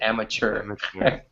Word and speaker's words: amateur: amateur and amateur yeah even though there's no C or H in this we pronounce it amateur so much yeah it's